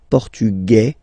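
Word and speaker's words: portugais: the feminine form okay masculine portugu you don't pronounce the s feminine formug you pronounce this z sound Okay.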